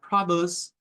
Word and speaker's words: produce: Entonces, en la frase, where's that produce, where that produce, tenemos como el énfasis en pro, ahí está el sonido más fuerte o la sílaba tónica, pero no solo eso.